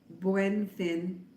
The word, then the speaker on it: Buen Fin: Buen Fin.